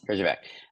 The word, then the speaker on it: Herjavec: sharks, a gentleman by the name of Robert Herjavec, am I saying it right? Yes, Horrible Herjavec. name. Yes. Herjavec.